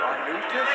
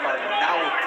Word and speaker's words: Arnaudes: We hear Arnaudes, Arnaudes. It's Arnaudes.